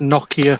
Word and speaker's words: Nokia: Or it's pronounced Nokia for us Brits.